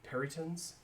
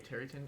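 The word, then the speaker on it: peryton: There are peritons that are on the roof. There's a periton roost. It's and- actually a terryton. You don't pronounce the P.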